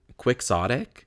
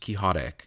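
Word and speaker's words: quixotic: And then quicksotic. The pronunciation of this word is crazy because it's based on doniote, but it's not pronounced kihotic. It's quicksotic.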